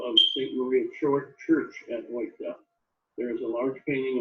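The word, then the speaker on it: Oythe: that town, and so O's or O-Y-T-H-E is pronounced Ota. It is the hometown of the Bruns, Bussy, Strilling, Foyne, Lammers, Meyer, and Tiemann families. This is the inside view of St. Maria Church at Oita.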